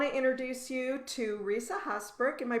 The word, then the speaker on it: Haasbroek: and i want to introduce you to risa husbark am i pronouncing your last name correctly i think that's